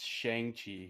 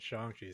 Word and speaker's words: Shang-Chi: host david uh it's shangchi here in the united states and uh i'm stuart and shang chi pronounces it shanxi so that's what i'm gonna call it and i'm ben yeah